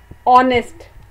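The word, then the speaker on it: honest: ऑनेस्ट में आप देखें, आप इसके स्पेलिंग है एच ओ एन ई एस टी, लेकिन कौन सा लेटर जो है वो साइलेंट है। शाबाश, एच इज साइलेंट, ऑनेस्ट।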